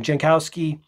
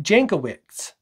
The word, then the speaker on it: Jankowicz: to grab your attention jankowski jankowski jankowicz jankowicz excuse me i'm mispronouncing that said in a subsequent